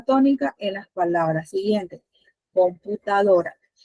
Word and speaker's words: computadora: Computadora. ¿Cuál es mi sílaba tónica? ¿A dónde recae? ¿En qué sílaba? En la penúltima. Marian dice que es la penúltima. ¿Quién dice que está de acuerdo o quién dice todo lo contrario? Muchachos. Sí, la penúltima.